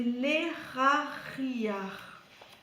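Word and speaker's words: Lehahiah: Alors, c'est l'Eraria. Alors, ça s'écrit L-E-H-A. Donc là, tu prononces R. L'Era. H-I. L'Erari. Et A-H. L'Erari.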